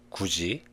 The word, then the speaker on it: 굳이: When the last consonants of front syllables, 디귿, 티읕, 리을 티읕, and the next syllable, 이 meet, they are pronounced as 지읒, 치읒. This is what we call palatalization. Let's look at the following example.